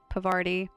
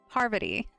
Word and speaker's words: Parvati: We'll make a dang good engineer out of you, Pavarti. No. Parvati.